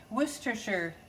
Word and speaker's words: Worcestershire: 3 teaspoons of mustard, 1 tablespoon Worcestershire sauce is the correct way to say that.